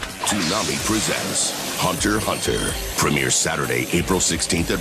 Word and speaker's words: Hunter x Hunter: watching and don't know the X is silent Hunter hunter is technically the name